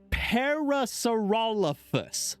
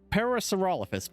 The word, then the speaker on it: Parasaurolophus: Okay, I'm jumping between pronouncing it badly as a joke and actually failing to pronounce it. Parasaurolophus. Parasaurolophus.